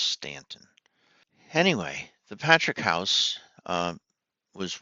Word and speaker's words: Staunton: They spell it Staunton, but I believe it's pronounced Stanton.